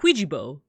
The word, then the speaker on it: Qwyjibo: they're playing Scrabble and Bart is like, Ouija-bo. Something terrestrial land bird. And I think it's spelled like Qwyjibo.